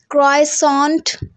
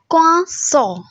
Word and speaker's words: croissant: क्राइसॉन्ट, क्राइसो, क्राइसॉन्ट नहीं होता, क्राइसो नहीं होता, मतलब रे की तो आवाज़ ही नहीं है, रे बिल्कुल साइलेंट है. क्वासो, क्वासो.